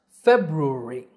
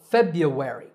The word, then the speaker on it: February: a few different ways in British English it's commonly pronounced February I know it sounds difficult but it's not to say it correctly you have to say ruh-uh REE REE REE Rory February February the American version is much easier the first R is silent so February Feb you where re